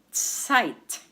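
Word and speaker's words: Zeit: in German of deut site site and we spell it this way Z as in zebra e i t and remember the combination of EI in German is I the next word is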